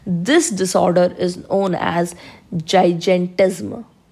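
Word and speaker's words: gigantism: disorder is known as जाइज eight जम कई लोग इसको जाइगर जम भी प्रोनाउंस करते हैं दैट्ची जैसा करना है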